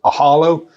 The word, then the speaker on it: Ohalo: A similar idea is a business called Ohalo – it is how we pronounce it, it’s actually spelled “o-halo” but we